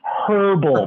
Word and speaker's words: herbal: say in the uk they always make fun of me because i'm such an american i'm like herbal and they're like no it's herbal pronounce that herbal right um